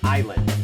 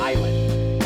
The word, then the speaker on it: island: นะ ฮะ อ อ่า ตัว S ไม่ ออก เสียง นะ ครับ จะ เป็น Island นะ ฮะ Island อ่า เช่น I like